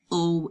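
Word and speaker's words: aux: o still sounds like o Au right cuz we don't pronounce the X unless it's followed by a vowel blank Copan the chistine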